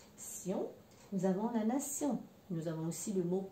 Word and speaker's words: nation: Nous avons la terminaison TION, qui dans une grande partie des cas, ça se prononce sion, mais des fois, beaucoup plus rarement, tion.